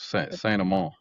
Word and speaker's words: Saint Amant: Saint Amant.